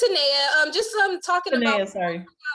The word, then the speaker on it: Tenaya: Oh, sorry, Tayana, what was the question? It's Tenaya. Just talking Tenaya, about sorry. how you pronounce the GEMES principles.